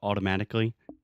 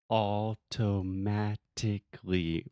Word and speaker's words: automatically: going to know so automatically that's again the sound of T that we do not actually pronounce we do not articulate the teeth we don't say all toe matically we say automatically okay man I